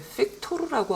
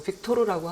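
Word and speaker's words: Viktor: 이 파우 발음은 F처럼 발음하라고 했는데 왜 픽토르라고 안 하고 빅토르라고 하나요?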